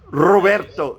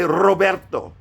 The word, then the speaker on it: Roberto: to Trill your sounds you have to roll your RS yeah so how do you pronounce Robert Roberto say Roberto ro ro roll your